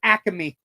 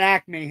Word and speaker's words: Acme: the way the pr the correct pronunciation in NEPA is aamy not Acme it's just aamy um it corre the